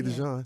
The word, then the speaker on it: DeJon: So people say DeJean because it's DeJean. spelled that way, but it's Oh, that's why you DeJon. changed the spelling. That's right. That's why I changed it to Jon. So we people can at pronounce it least correctly. say it somewhere close to what it's supposed to be.